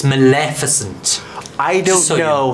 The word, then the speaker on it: Maleficent: tough to sayic is in fact the correct pronunciation I would say Maleficent but the dialect coaches would step in and go it's Maleficent I don't know how you did that I